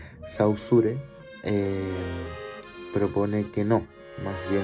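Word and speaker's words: Saussure: sin embargo sin embargo saucer o como se pronuncia bien sausure propone que no más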